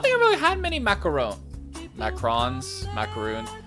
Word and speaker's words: macaron: many macarons macrons macaroon how do you say it am i saying it right macaroons i feel like i'm saying right macaroon because they're like they're kind of like little cookies right oh am i saying it wrong hang on macaron wait really macaron macron macaron macaron macaron macron no no way in macaroon macron no i don't accept that macrons are french